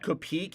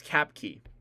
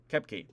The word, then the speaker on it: Koepke: I got the name to pronounce number 45. It's not Kopeek. It's Koepke. Koepke.